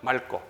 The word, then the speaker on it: 맑고: 맑고. 리을 기억 다음에 기억 오면 리을 쌍기억돼요.